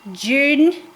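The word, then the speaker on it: Junee: It's in June, New South Wales, but it's spelled J U N E.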